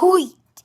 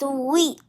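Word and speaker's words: huit: And 8 is not wheat, it's wheat. Wheat. And 9 is neuf. It's spelled N-E-U-F.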